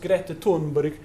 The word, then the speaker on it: Greta Thunberg: So I thought I'd finish on a slightly more upbeat quote here from, I believe it's pronounced Greta Thunberg.